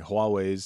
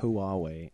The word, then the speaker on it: Huawei: Huawei's starting to break into... and thank you for saying it correctly. Yeah, you're welcome. It's not Huawei, it's Huawei.